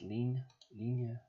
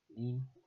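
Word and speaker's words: ligne: This 1st Battalion of 61st Line Regiment, I guess, but I think it's pronounced lean. Lean.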